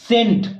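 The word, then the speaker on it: scent: सी को हटाने के बाद हमको क्या बचेगा सेंट क्या बोलेगा एस ए एन टी क्या बोलेंगे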